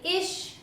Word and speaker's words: ich: Another question that I get asked quite often is, why do you say ish, mish, dish rather than ich, mich, dich?